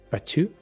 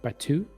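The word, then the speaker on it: Biatu: angel's name is is batu it's b-i-a-t-u but it's pronounced like batu and i know i'm not really pronouncing it right but that's that's one is batu and that's your male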